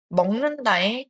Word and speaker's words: 먹는다: 그래서 먹는다의 발음은 먹는다 기억이 이응으로 바뀐 형태로 나타나게 됩니다.